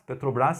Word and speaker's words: Petrobras: sigla Petrobras, que aliás, Petrobras sem acento, tá? Embora a gente fale Petrobras colocando a tônica na última sílaba, por ela ser uma sigla de petróleo de brasileiro, então não tem acento.